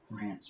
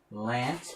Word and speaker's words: Rance: What were your parents thinking? Lance, but they couldn't pronounce it right. Rance. What's his name? Rance. Can't pronounce L's. What's wrong with you? I said Rance Mullinex. Oh, Lance. No, Rance. Okay. Rance it is.